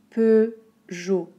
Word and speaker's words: Peugeot: Ok, 2 syllabes. peu, comme il y en a peu, ou le peu de petit, peu. Jo. Un O très fermé, O.